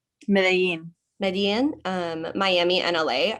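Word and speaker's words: Medellín: As somebody raised in Nicaragua and the US who spends time in London, how do you say Medellin? Medellin.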